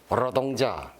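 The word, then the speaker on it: 로동자: 두음 법칙으로 인해서 이렇게 여러 발음을 안 쓰잖아요. 그런 사람이 갑자기 북한에서 지금 쓰는 여러 발음을 하자니 좀 힘들죠. 그래서 입이 붙으면 그냥 자연스럽게 평양냉면. 평양냉면. 러동자.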